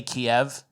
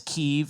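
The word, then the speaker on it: Kyiv: that with Ukraine remember everyone used to say Kiev and now it's keev and then anyone who's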